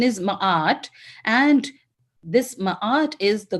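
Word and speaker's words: Ma'at: the Hall of ma m m but is pronunciation is ma and this ma is the goddess of Truth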